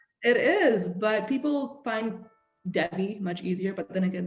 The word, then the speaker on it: Devi: But people find Devi much easier, but then again, they're not even pronouncing it properly. Yeah, Devi. So I had to sit down at work one day and I was like, it's Devi, which means goddess, which means put respect.